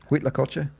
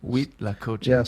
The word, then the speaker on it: huitlacoche: corns but what was the Spanish word for huitlacoche huitlacoche sores that sounds a lot spelled with a you know with an H but